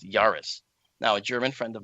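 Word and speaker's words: Jahreiß: I and then the beta symbol but it's pronounced Yaris now a German friend of mine confirmed that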